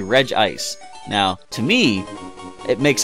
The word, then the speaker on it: Regice: but they say that Reggie ice has only one I so it should be regice now to me it